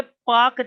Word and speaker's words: Palk: उसके बाद पाक खाड़ी होगी, ये पाकिस्तान वाला पाक नहीं है, एक अंग्रेज थे उनका नाम पाल्क था, यहाँ पे PALK होता है, एल साइलेंट है हमारा।